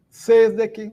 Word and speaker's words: sesdek: Temos que nos lembrar, meus amigos e amigas, que todas as palavras são paroxítonos, né? A sílaba mais forte é a penúltima. Por isso, Kvindek, Sesdek, Septek, Okdek, Naudek.